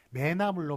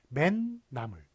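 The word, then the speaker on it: 멧나물: 매나물로 발음되는 게 아니라 맨나물 이런 식으로 맨에 니은이 덧붙어요.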